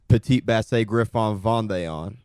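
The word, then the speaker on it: Petit Basset Griffon Vendéen: it's a long name it's like pronounced petite Bass Griffon Von little French ending there we we there's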